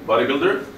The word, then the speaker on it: bodybuilder: How many syllables? Two. Body, one word? Yes. One syllables. Builder? Two. Very good. Good. And where's the stress? In the second word? The second syllable. Very good.